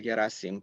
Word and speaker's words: Gherasim: cantes um so again my name is gasim perfect pronunciation of the last name by the way